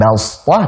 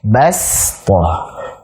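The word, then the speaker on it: بسطة: Berarti bacanya bukan bastah tapi bastah. Bastah.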